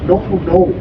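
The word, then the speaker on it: Nounou: of the year 2026 or was it 2126 no no no I'm just kidding no no no 2026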